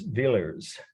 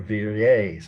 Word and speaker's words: Villers: The artist's name is Villers, V-I-L-L-E-R-S, Villers, or Villiers, some people would say, but I don't think that's how it's pronounced correctly. V-I-L-L-E-R-S is the artist's last name.